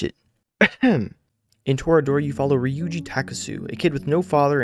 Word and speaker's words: Ryuuji Takasu: Ryuuji Takasu.